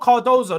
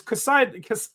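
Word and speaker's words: Casadó: That's why when I say not Cardozo, that name's throwing me off. It's Casado.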